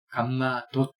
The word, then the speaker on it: 감마 도트: 감마 도트라고 읽어요. 감마 도트. 돛이 바로 점이라는 뜻이잖아요.